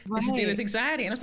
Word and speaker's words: Mxiety: Of course, Mix City. Am I saying that right? No, but that's okay. Nobody does. Tell me how to say it. Tell me how to say it. Anxiety.